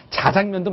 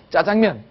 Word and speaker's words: 짜장면: 꼴이 싫다 이렇게 얘기했는데 지금 이제 우리 표준어 연구소에서 이렇게 대중들이 많이 쓰는 단어를 표준어의 발음으로 인정하는 풍도가 생겼습니다 그래서 자장면도 맞고요 어디 방송이든 어디든 자신감 있게 짜장면 이렇게 얘기하 됩니다 짜장면의 역사 한번